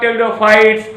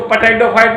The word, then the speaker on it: टेरिडोफाइटा: टेरिडोफाइटा means P silent है, तो इसको पोटैटोफाइट मत पढ़िएगा, नहीं तो एकदम रॉन्ग हो जाएगा, गलत हो जाएगा। आप इसे टेरिडोफाइटा पढ़ेंगे, पी साइलेंट है।